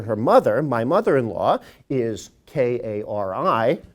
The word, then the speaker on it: Kari: mother my mother-in-law is k-a-r-i pronounced Kari do not call her Carrie she really does care